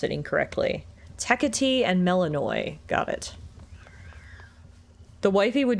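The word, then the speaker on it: Melinoë: It's not Melanie. It's Melaninoi. I feel like I need everybody to say their name so I don't pronounce it incorrectly. Tech and Melaninoi.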